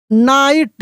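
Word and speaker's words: knight: वन नाइट, यहाँ पे GH silent है, ठीक ना। वन नाइट, a brave, BRAV, brave, KNIGST, नाइट।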